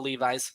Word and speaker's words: Levis: It is Will Levis, by the way. I like Levi's though. I never know where you're gonna go with your pronunciations, and that's not one I saw coming. It's kind of legitimate pronunciation, but it's not the actual one.